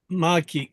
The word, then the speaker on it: Malkki: Excuse me if I mispronounced Yes, your name. that's good. Yeah, Malkki. Malkki, very Yes, cool.